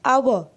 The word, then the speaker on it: hour: But see, an hour, a sound is there, okay, and this H is silent, so hour only we